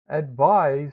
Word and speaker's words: advise: Advise rhymes with the word eyes. Do you realize that I have eyes? Advise sounds like it has the z sound, as in zebra.